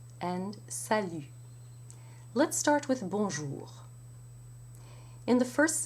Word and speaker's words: bonjour: Let's start with bonjour. In the first syllable, you have the B with a nasal O. Bon. But you do not pronounce the N as you would in an English word.